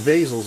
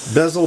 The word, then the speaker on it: bezel: are gonna be covered when the Basil's on or bezel Hager it's pronounced bezel basil tomato tomahto that's looking good and